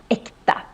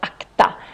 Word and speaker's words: äkta: äkta. Äkta. And when you see this for the first time, then maybe you think it should be pronounced akta. But no, that means something else in Swedish.